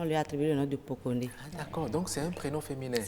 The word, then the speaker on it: Pokoné: le journaliste aujourd'hui nous allons parler du prénom Poconé Poconé Poconé ça s'écrit po k P o k o n